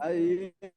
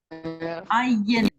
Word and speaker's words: Ayin: Ayin, Ayin, Ayin, this is also the silent letter, the second one that needs a vowel to give it a sound.